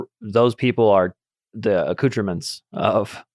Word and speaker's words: accoutrement: But on another level, you'd say those people are the accoutrements of Accoutrement, please. the French pronunciation.